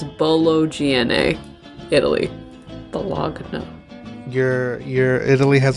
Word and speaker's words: Bologna: It's pronounced baloney. No. Luigi Galvani is an anatomist in Bologna, and he... It's pronounced Bologna.